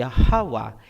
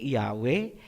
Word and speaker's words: Yahawa: Ang pangalan ng Ama ay Yahawa, hindi Yahweh, hindi Jehovah, hindi Ahaya, hindi Yahuwah, at mas lalong hindi Jesus Christ. Lahat yan ay Babylonian Masoretic na bigkas.